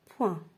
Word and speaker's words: point: Ensuite, la lettre G peut être muette dans certains mots. C'est-à-dire, elle ne se prononce pas. Et voilà les exemples. Doigt, éton, long, son, rond et point.